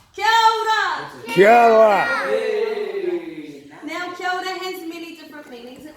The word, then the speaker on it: kia ora: Now, kia ora has many different meanings.